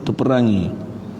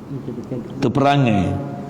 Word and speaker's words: terperangai: Yang tu kot bacanya terperangi. Terperangai. Macam tu kot. Terperangai. Perangai. Baca terperangai bukan terperangi.